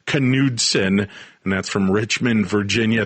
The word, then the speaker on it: Knudsen: Yep, I married a Minnesota Dane, so it's pronounced Knudsen, and that's from Richmond, Virginia.